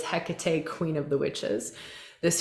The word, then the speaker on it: Hecate: hijia love hijia um hecate sometimes spelled with the k sometimes filled with a c but it's hecate queen of the witches